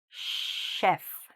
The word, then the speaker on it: chef: Sometimes to children, we say "sh", that's the sound we need, here, "sh", "chef". Okay? "Chef". All right? So, the "chef", of course, is like a very good, professional cook. "Chef". So, this has just one syllable, so there's no particular stress in any one part of the word.